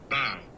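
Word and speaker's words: bough: Bow. B O U G H. Am I pronouncing it correctly? Bow. Oh, it's bow. Okay.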